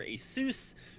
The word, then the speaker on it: Asus: sponsors band twitch and Asus or Asus like Dr Seuss if you want to pronounce it that way uh love having them